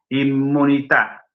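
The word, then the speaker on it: immunità: El italiano, sí, pronuncia dos M's. Inmunità. Inmunità. Por eso escribe con dos M's.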